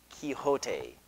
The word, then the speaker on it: Quixote: Don Quixote that's pronounced Quixote because it is Spanish not English Don Quixote is a